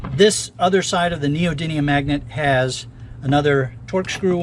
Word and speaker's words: neodymium: these disks okay this other side of the neodymium magnet has another torx screw on it by the way it's pronounced it's it's neodymium not denium and you'll see i'm going to spell it